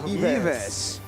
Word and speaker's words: Yves: I mean, Filipinos pronounce it as Ives. So. Yves. But I think that the right pronunciation is actually Yves.